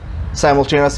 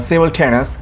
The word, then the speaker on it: simultaneous: That can be pronounced as simultaneous. Simultaneous in American pronunciation, and simultaneous is British pronunciation.